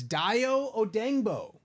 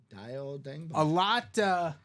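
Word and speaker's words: Dayo Odeyingbo: confusing to pronounce, but on Wikipedia, the official pronunciation is Dio Odengbo. Dio Odengbo.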